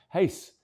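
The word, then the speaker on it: Reis: whose second name is spelled R E I S, but pronounced Hace.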